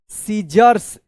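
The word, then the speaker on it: scissors: कॉम and then T एच ई N then cut paper P ए पी ई R paper with सीजर्स एस सी I double S ओ आर एस सीजर्स तो देखिए यहां पे आई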